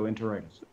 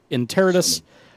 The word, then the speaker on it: Interitus: Most people go Interitus. That's wrong. No, okay. So, Interitus.